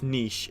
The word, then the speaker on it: niche: to pronounce that word it's meesh if you're Canadian for sure I'd so they've got